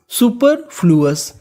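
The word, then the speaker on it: superfluous: सुपर फ्लू, OUS अस, तो पूरी meaning सुपर फ्लूअस।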